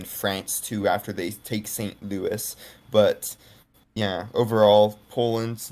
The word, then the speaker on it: St. Louis: Then people keep criticizing me in videos for pronouncing this St. Louis, but it's a French dot and Louis is the French version of the name, right?